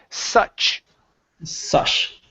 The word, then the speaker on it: such: okay good all right now we're going to practice the CH sound so right here you're